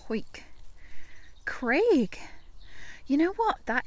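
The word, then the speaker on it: Hawick: Hoik is a town in the Scottish Borders, by the way. I know it's spelt Harwick, but it's pronounced Hoik.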